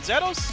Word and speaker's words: Zeros: We gotta say it like the Japanese do. Okay, Zero. I can get behind that. Zeros. It's Over not here. Zero. It's Zero.